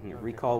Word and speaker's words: ReQall: uh the the website the website is recall r e q a l l it's spelled a little unusually r e q a l recall with a Q very cool thank you